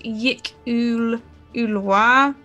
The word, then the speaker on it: yklwa: It says it's pronounced Yik Ulua.